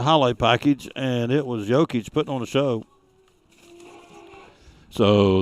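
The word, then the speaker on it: Jokić: So Nikola Jokic, I've heard it pronounced so many different ways. Jokic is what I keep hearing him say on the national television, so I'm going with that.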